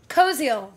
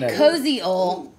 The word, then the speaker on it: Koziol: KOZIOL. So, phonetically? KOZIOL. I'm going to say KOZIOL.